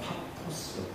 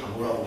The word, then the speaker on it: 파포스: 있고 이쪽에 뭐 바보 이렇게 돼 있는데 바보는 파포스 파포스를 바보라고 발음을 바보같이 진짜 여기에 이제 뭐가 있냐면 집으로